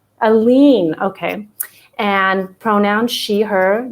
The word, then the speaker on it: Alleyne: i think i'm going to get this wrong aline okay and pronoun she her genevieve bella view